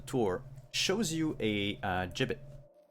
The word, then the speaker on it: gibbet: shows you a uh jibbet how you pronounce it give it a bit gi bb et gibbet yeah or jib what